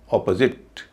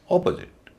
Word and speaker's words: opposite: पहले सिलेबल में ओ, बाकी में अ और ई, तो इसको बोला जाएगा ऑपोजिट, ऑपोजिट। इस तरह व्हीकल, व्हीकल, इसमें वी का उच्चारण दीर्घ ई होगा, वी, क्योंकि उस पर स्ट्रेस है।